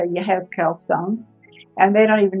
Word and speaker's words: Yehezkel: I forgot how to say it in Hebrew, and it's Yehezkel.